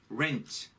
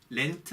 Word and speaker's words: rent: 그 다음 rent. 이 rent라는 말은요. 집을 임대하는 해서 돈을 내는 그 임대료예요. 임대료. 집세, 임대료. 이럴 때 이제 rent라는 말을 많이 써요. 여러분 R 발음이니까 rent 이렇게 돼요. rent. 렌트 아닙니다.